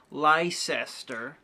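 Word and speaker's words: Leicester: and if you're American you don't actually write it l s t e r you write it Lester l e i c s t e r and the first time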